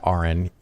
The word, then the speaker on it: Aron: you have any doubt if you run into aren his name is pronounced like a nurse are in are in